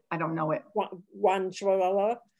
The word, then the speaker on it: gochujang: I don't know how to pronounce it. A Korean red chili paste. Right. I don't know it. Guanchuala. Right. Gochujang.